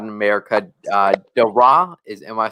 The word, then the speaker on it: Daire: Dara, am I saying that right?